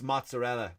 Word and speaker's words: mozzarella: It's mozzarella. It's not mozzarella. Right? Stop over-pronouncing the words to sound more Italian.